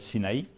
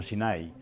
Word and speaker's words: SINAI: Y que efectivamente no tiene acento en la I, por lo tanto no es Sinaí, sino Sinai.